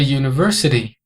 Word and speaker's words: university: n an hour a university uma universidade pronounced University que é pronunciado University o u aqui tem som de you e esse som you